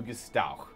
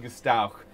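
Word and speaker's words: Gstowq: Kimp's wagon train to Gestauch. Spell that? G-S-T-O-W-Q. Absolutely not. The Q is the ch sound in Orcish.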